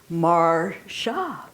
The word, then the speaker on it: Marcia: And you know, in the 5 years I worked for him, he never pronounced my name correctly. Even though I always said it's Marcia.